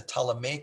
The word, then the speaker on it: Ptolemaic: to be called the ptolemaic with the p is silent the ptalamay greek empire every one